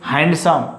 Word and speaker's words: handsome: Now don't say handsome. Suppose Salman Khan is handsome actor, so don't say handsome. He is handsome. Don't say. So here is D is silent.